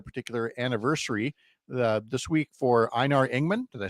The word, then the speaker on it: Einar Ingman: And you've got a particular anniversary this week for Einar Ingman.